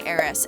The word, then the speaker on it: Aeris: You could say Arieth and you can say Aeris.